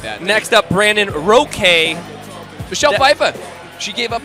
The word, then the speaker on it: Roque: His name's Roque. Roque, no joke.